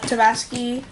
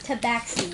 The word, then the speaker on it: Tabaxi: you're always saying it wrong. What do you mean? It's tabaxi. You're saying, I don't even know what you're saying. Tabaxi. Yeah, I was saying Say it like an X.